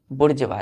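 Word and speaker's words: bourgeois: तो बोलेंगे हम लोग बुर्ज वा इसका प्रोनंसिएशन क्या करते हैं बुर्ज वा क्लियर है तो मेंबर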